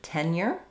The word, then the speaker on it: tenure: Okay, we had a request for the word tenure. So let's take a look at that. So in the word tenure, we have first syllable stress. It does start out just like the word ten.